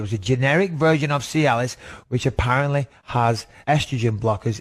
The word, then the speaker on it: Cialis: was a sex aid, Cialis. Is that how you say it? Cialis? Yeah, Cialis.